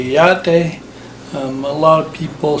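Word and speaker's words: Yá'át'ééh: In Navajo, they say yate. A lot of people say yatahe, but that's not really the correct pronunciation. It's yaate.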